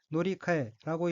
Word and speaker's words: 乗り換え: 즉 차환이란 뜻이고 이어서 두 번째 어휘는 노리카에라고 읽으며 노리카에는 다른 것으로 바꿔 사는 것, 갈아타는 것이란 의미입니다.